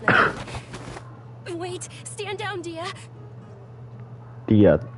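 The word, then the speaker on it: Dehya: Dia, that's how you pronounce her name. I thought it was like Dihia or something when I saw her.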